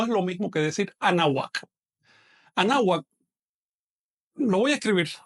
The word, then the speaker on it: Anáhuac: Anáhuac se pronuncia así. Anáhuac. Pegando muy levemente o casi pegando los dientes superiores al labio inferior. No se pronuncia anáhuac, no es así. Esto es una consonante, la consonante W, que en náhuatl tiene una pronunciación un poquito cerrada.